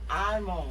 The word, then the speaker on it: almond: thank oh Al almond It's almond almond silent L almond strawberry again Wala